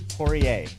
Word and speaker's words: Poirier: Brian Austin Green are sha Buress porier welcome to oldish thank you so much Randy and you just pronounced my name as I said off air